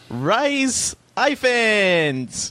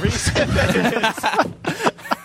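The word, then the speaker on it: Rhys Ifans: goes to Rise Iphans. And Reese Iphans as well. Reese Iphans. Thank you. Listen, I'm not good at pronouncing English names.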